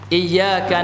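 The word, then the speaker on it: إِيَّاكَ: beribadah berarti menyembah kepada seorang oo9l dari maka membacanya yang benar adalah eyeka itu Ya iyyaka na'budu Wa iyyaka nastain kepadamulah ya Allah kami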